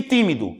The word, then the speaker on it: tímido: penúltima se fosse seria paroxítona é na antepenúltima sílaba e tímido separando tímido Olha o time do demora mais